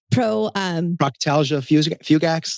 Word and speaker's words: Proctalgia fugax: the pain in the ass, because I can't pronounce it to save my life. What is it? Proctalgia fugax?